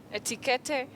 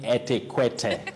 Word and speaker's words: etiquette: You hear etiquette, etiquette. How do we go about that one, Willis? But we don't say etiquette, we say etiquette.